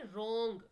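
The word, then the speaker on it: wrung: कौन सा है तो डब्लू डब्लू इसमें क्या हो जाता है साइलेंट हो जाता है हम इसको कैसे प्रोनाउंस करते हैं रंग टिक द करेक्ट सफिक्स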